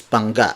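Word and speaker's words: bangga: bang-ah it's buona notte Banga Banga means crashing when it's when two cars are crashing it's ponga but when you say Bona it refers to jar and also Bunga has an additional G after the ng consonant so dispelled as ba + g GA but if it's just ba ng a it's Bona Bona Bona the ng consonant can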